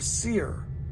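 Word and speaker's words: Seir: the Hill Country of seer sire you know never known how to pronounce that it's ser ious seer then the Lord said to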